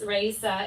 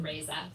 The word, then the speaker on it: Raisa: So it's Raisa is how you say it properly. In my family, with our butchered Russian, we always said Raisa. So you'll hear me saying her name is Raisa.